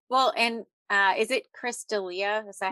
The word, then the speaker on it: D'Elia: Well, and is it Chris D'Elia?